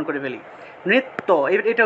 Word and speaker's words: নৃত্য: তারপর দেখুন নৃত্য, বাংলায় বললে নৃত্য, কিন্তু সংস্কৃত উচ্চারণটা হবে নৃত্যা নৃত্যা। ঠিক আছে? নৃত্যা।